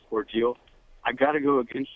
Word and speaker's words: Cordele: You mentioned Warner Robin, and the Cordell town is actually pronounced Cordele.